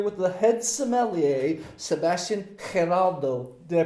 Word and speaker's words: Giraldo: why I'm here with the head sommelier, Sebastian Giraldo. Did I pronounce that right? Almost right. Yeah. Just give me the right for the Giraldo. Sebastian Giraldo. Giraldo.